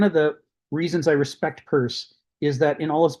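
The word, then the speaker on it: Peirce: Uh you you can find a lot of stuff about him but yes it's pronounced purse and and I thank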